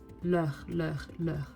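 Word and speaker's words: leurs: Be careful, the S is not pronounced, so it sounds leur. Same, right? S is just silence.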